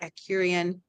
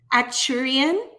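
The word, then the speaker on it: Arcturian: She's on with us live on YouTube and she's commenting that she's a proud Acurian. I didn't say that right. That's okay. And how do you say it? Acturian.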